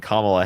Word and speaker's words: Kamala: I said Kamala's name wrong a few times, but that don't make me plumb crazy.